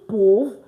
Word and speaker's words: peuvent: I repeat, in French, when you have a verb end with ENT, do not pronounce it. I repeat, do not pronounce it. So that explains why it's pronounced ils peuvent and not ils peuvent.